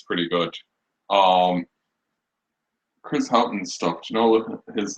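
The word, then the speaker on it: Chris Haughton: I can't pronounce it. Chris Houghton.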